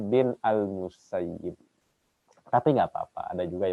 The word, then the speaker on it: Musayyib: dari Sa'id bin al-musayyib ada yang membacanya musayyab ada yang bacanya musayyib dapat Pa itu beda pelafalan saja tapi kalau guru-guru Kami lebih senang membacanya musayyib diantara guru kami ya karena maknanya lebih baik Kalau mau saya berarti